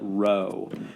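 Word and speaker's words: ρ: the same as r it's just a greek r even though it looks like a p it's technically a greek r they call it rho but it's an r it's basically an r so know that p um which is really rho that's a greek r and then r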